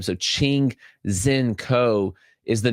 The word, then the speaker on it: Ching-Hsien Ko: So, Ching Zen Co is the name that you're looking at there.